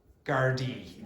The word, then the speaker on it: Gardaí: How do you pronounce that word? Gardaí.